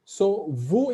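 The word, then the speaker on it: vous: the same connection because vu ends with s so alone vo is silent but in this sentence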